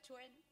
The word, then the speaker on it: Quan: Bueno, se escribe Quan, como aquí veis. Se pronuncia Chuen en chino.